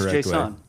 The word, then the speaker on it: JSON: Uh like I I I pronounce it like more JSON rather than JSON because like people will hear Jason and be like who what? Yeah, it's not Jason. It's JSON.